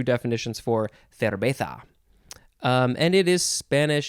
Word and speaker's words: cerveza: Sometimes in Spanish they use a b sound, a b sound instead of a v. Cerveza. Or you can, if you're real Spanish, you'd say cerveza. Cerveza, with a little bit of a lisp.